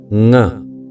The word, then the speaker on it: ङ: इसका उच्चारण आप ध्यानपूर्वक सुनिए। ङ, ङ, ङ।